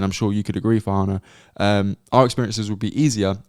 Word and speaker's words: Farhana: I'm really sorry, but my name's actually pronounced Farhana.